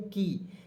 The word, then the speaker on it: key: की। क्यों? क्योंकि के से क, और यहाँ पे जब भी वाई अंतिम में रहता है, वाई जब भी अंतिम में रहता है उसको उच्चारण बड़ी के रूप में करेंगे।